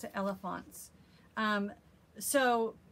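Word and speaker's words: Elefantz: think you pronounce it elephants um so it's a blog it's jennifer reynolds and this is her blog it's like elephants but it's e l e f a n t z so i'll put that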